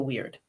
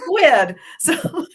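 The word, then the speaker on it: wyrd: could tell is that when you look it up spelled with a Y you get an English accent of that weird and in my head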